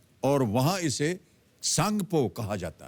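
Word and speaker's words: Tsangpo: ब्रह्मपुत्र का उद्गम जो है वो तिब्बत चीन में है और वहां इसे सांगपो कहा जाता है। सांगपो यानी कि टी एस ए एन जी पी ओ इसकी स्पेलिंग है।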